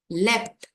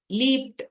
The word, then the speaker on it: leapt: Leapt. Leaped அப்படின்னு படிக்க மாட்டோம். அதை leapt அப்படின்னு உச்சரிப்போம். LEAPT. leapt.